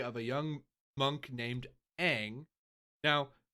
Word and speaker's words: Aang: The movie, literally, the entire show, they keep calling the character Aang. His name is Aang. Immediately you watch the movie, his name is Ong.